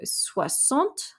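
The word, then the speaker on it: soixante: e and so we and the x makes an s sound so we go sua sont soy sonte yang sua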